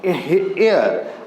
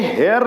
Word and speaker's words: heir: जैसे आपको HEIR है एयर, अब देखिए यहाँ ये हेयर नहीं है, HEIR इसको बोलते हैं। इसका जो रियल प्रोनाउंसिएशन होता है वो एयर होता है, यानी कि एयर लिखेंगे, लिखते हैं HEIR लेकिन इसका रियल प्रोनाउंसिएशन होता है एयर, और ए हमारा इसमें